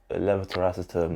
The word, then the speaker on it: levetiracetam: So I take levetiracetam. That's how you pronounce it.